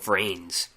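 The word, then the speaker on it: VRAINS: and it's about Yu-Gi-Oh rins v r a i ns I guess you would pronounce it like brains but it's v r a i ns and I saw this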